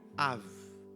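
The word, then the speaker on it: אב: You know how you pronounce father in Hebrew? Av. Af. Av.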